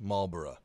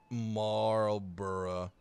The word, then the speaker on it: Marlborough: I hope that made sense, because that's exactly how it feels to play the HMS Marlborough. Hopefully that's how you pronounce it. Like Edinburgh, Marlborough. It's not Marlborough.